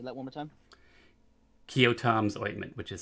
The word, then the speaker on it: Keoghtom: The ointment, well, it's Kyotom's ointment.